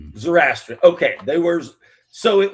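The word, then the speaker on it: Zoroastrian: Zorastrian. Zorastrian.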